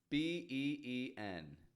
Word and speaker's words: been: Since this is a grammar word, we don't pronounce it with a full been, but we soften that vowel in the middle to get a quick and quiet been.